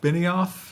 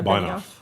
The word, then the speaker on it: Benioff: So Mark Benioff, is that how you pronounce that? Yeah, Benioff. Benioff. Is the Salesforce CEO. It's Benioff. Benioff.